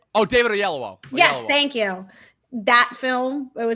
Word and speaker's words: Oyelowo: It's David Oyelowo.